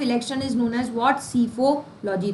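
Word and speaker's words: psephology: और सिफोलॉजी P silent रहता है इसमें।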